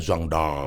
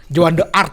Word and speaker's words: Jeanne d'Arc: Katanya orang Prancis bacanya Jeanne d'Arc. Oh iya. Joan d'Arc gitu. Kalau orang Indonesia Joan d'Arc.